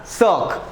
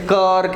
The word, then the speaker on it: cirque: अब इसका प्रोनाउंसिएशन बड़ा अजीब है दोस्तों, please so remember it's actually pronounced as सर्क। लोग इसे कर्क एंड ऑल बोलेंगे बट इट्स सर्क।